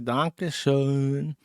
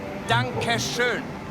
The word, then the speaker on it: Dankeschön: In German, you have all these alphabet letters that got the dots on them, and you gotta say it right, because the Germans get real fucking offended by that shit.